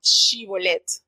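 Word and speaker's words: שיבולת: le hacían la prueba di shibolet y ellos no sabían pronunciar la sh sino decían la y por ese detallazo apenas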